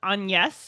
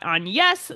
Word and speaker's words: Agnes: We've got Agnes, spelled Agnes. It's not pronounced Agnes in the film, and all the records we've heard about Shakespeare's wife call her Anne.